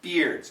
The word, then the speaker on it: bear: And then, of course, we got bear. It sounds like air.